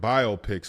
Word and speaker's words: biopic: few different biopics also you're putting that emphasis on on the wrong syllable man it's biopic what no it's biopic I've NE I've never heard I've never heard that in my life yeah it's biopic biopic biopic it's not biography biography picture biopic a biopic is